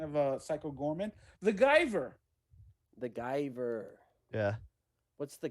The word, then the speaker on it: Guyver: yeah good kind of uh psycho gorman the guyver the guyver yeah what's the guyver about oh yeah that's another pronunciation it's pronounced the giver it's the keeper what did you never see